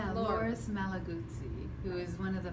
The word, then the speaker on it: Loris Malaguzzi: know that I'm going to say the last name wrong, so you can say it for us. So it's Loris Malaguzzi, who is one of the founding educators in the schools in Reggio Emilia in Italy.